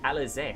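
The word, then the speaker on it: Alisaie: Alize. I've been saying her name wrong too this entire time.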